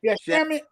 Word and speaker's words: Shamet: Shaman, how you say his name? I always have trouble saying his name. Shamet.